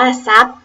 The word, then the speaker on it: ทรัพย์: พุทรา อินทรีย์ อ่าน ว่า อินทรีย์ ทรัพย์ อ่าน ว่า ทรัพย์ เป็น ต้น ไป อ่าน ว่า ต้น ไทร แซ่บ